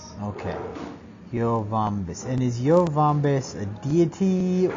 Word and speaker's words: Yoh-Vombis: It's actually the vaults of Yovombis. And what is? Spell it again. It's the vaults of YOH-VOMBIS. Okay. Yovombis.